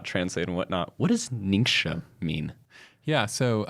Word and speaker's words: Ningxia: Because sometimes Ningxia becomes ninja. Yeah. Which is actually a Japanese word.